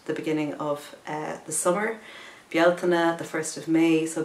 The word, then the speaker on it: Bealtaine: But fire, because the Bealtaine is one of the, also pronounced Bealtaine, but actually Bealtaine is the correct Irish pronunciation of it, the original pronunciation, and it is the